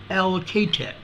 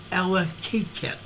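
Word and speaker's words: Allakaket: this is a 2.9 near allocatec Ella cat a-l-l-a-k-a-k-e-t Alaska I believe it's allocated that's the best I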